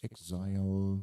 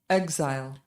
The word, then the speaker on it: exile: Exile is the British pronunciation for the word. Now this one American way. Exile.